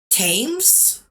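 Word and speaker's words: Thames: strange jellyfish floating in the tames right silent h the watch s the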